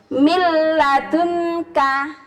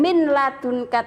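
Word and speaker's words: من لدنك: Kemudian kalau bertemu lam, mil ladunka. Bukan min ladunka tapi mil ladunka, mil ladunka.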